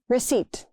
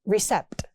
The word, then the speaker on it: receipt: Receipt. That P is silent. Not recept. It's receipt.